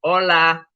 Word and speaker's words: hola: Sometimes I'll call on you, but to yourselves, let's just hear your strongest hola.